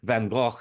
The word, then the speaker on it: van Gogh: This song was, of course, all about the Dutch Impressionist painter Vincent van Gogh, sometimes pronounced Van Gogh.